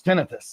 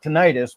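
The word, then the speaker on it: tinnitus: But medically speaking, there is a correct way of saying it and it's tenitus. It's not tonitis because it's it's not a it's whenever you hear itis it's always that's the condition that's a description of what's going wrong.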